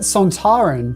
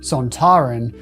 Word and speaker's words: Sontaran: Kevin Lindsay, who played Lynx, decided that Sontaran should be pronounced Sontaran rather than Sontaran, as Robert Holmes, the writer, wanted.